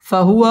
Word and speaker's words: فهو: ফাহুয়া ওয়াও ঠোঁট গোল করে উচ্চারণ করতে হবে।